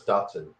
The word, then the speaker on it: Dachshund: It's Dachshund. Dachshund. Okay, there you go. How about that? Germans don't pronounce the CH.